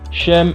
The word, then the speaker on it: Sem: Cham, Sem et Japhet. Cela dépend de l'appellation et des prononciations. Ok? Mais on va dire Sem ici. On va dire Sem. Comme les Sémites. Les Sémites. Comme les langues sémitiques.